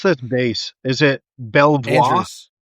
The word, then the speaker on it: Belvoir: How do you pronounce this base? Is it Belvoir? Uh, Fort Belvour. Belvor.